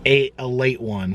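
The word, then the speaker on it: Ale-8-One: Oh, it's ALE81, but it says right there, a late one is how it's pronounced.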